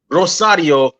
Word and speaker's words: Rosario: So it's the S is pronounced like a Z.